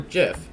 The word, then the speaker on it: gif: yo no se do you think gif is pronounced gif or Jif I think it's a gift because this already